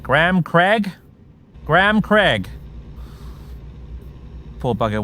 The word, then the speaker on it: Graham: i will never forget the swedish tollbooth incident graham is a two-syllable word in in in british english my dad's name is graham but americans pronounce it graham for some reason and they pronounce craig craig